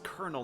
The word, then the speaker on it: colonel: the is colonel not spelled with an r english language is [